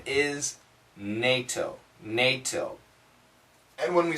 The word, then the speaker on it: NATO: The American pronunciation is NATO.